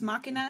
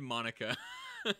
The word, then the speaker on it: Machina: Damon X Machina? Yeah, I said Monica.